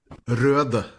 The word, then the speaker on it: Røde: with røde. Røde. Okay. Because it has the Norwegian letter.